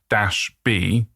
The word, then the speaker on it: COM-B: So it's actually co-b. That's sort of what combi stands for. that that's how it's spelled.